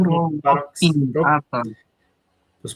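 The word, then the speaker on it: Saurolophinae: O E INAI sim, da subfamília força a palavra a ser pronunciada como Saurolofine.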